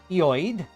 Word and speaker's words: Lloyd: Lloyd is Welsh, and the two L's aren't pronounced like you'd expect. Yoid?